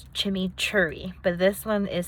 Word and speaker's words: chimichurri: All the times that I've seen it, it's called chimichurri. Like, it's spelled CHIMMICHURRI, like chimichurri.